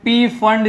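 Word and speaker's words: Pfund: मिल गई अलग से, जिसे पी फंड सीरीज बोलते हैं, या फिर कोई फंड सीरीज भी बोलते हैं, पी साइलेंट कर देते।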